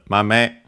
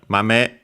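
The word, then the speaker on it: 豆: Okay, accented on the second one.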